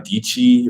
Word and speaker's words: Dichi: There's also Sarah Dichi, rhymes with Peachy.